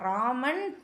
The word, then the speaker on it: இராமன்: இராமன் இராமன் எழுத வேண்டாம். ராமன் உச்சரிக்கணும். இ இந்த இடத்துல அமைதியா இருக்கணும்.